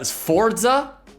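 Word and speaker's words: Sforza: Like, all right, we have the Forza. The Forza. It's SF O R Z A. I'm I'm assuming the S is silent.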